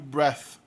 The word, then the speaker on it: breath: Observa que o TH também muda de pronúncia aí. No primeiro caso ele é sonoro, breathe. E no segundo caso ele é surdo, breath. Mas tem algumas palavras que são excepcionais.